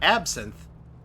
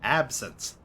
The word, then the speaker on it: absinthe: Absinthe. Not absinthe. Absinthe.